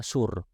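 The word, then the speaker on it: صور: di wilayah Lebanon dan bahasa Arab dibacanya syur dengan short ya shot kalau dalam bahasa selain Arab kemudian sering ditulis dengan huruf ta huruf t y r dan e sehingga dengan hal ini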